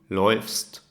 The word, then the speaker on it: läuft: The A, U, turns into umlaut, into ä, u. Remember from our pronunciation guide that now the sound will be oi, okay? The ä, u, the sound is like oi, like oi.